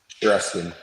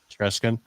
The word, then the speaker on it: Chereskin: how do you say your last name shesin shesin all right and where you will located uh